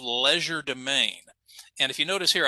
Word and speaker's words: legerdemain: But the French term for it, and again, I'm pronouncing it as an English speaker here, but the French term is called legerdemain.